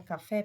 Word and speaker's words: café: é a sílaba tônica a palavra café pessoal a sílaba tônica é o fé ele é pronunciado com maior intensidade observem aí que eu